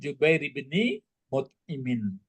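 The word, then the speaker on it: Jubair bin Mut'im: Ah jadi yang betulnya bacanya waan Jubair bni mutimin.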